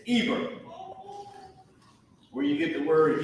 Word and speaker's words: Eber: This word Ibar is Eber.